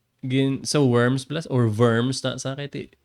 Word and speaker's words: Worms: mid 1500 K sa worms or worms German mo ang pag-pronounce W sa ano V verms sa diet of verms